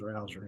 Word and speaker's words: Rouzer: I guess that's Rouzer or Rozier. I don't want to get it wrong. Do you know that guy, how to pronounce his name? Pretty sure it's Rouzer, yeah.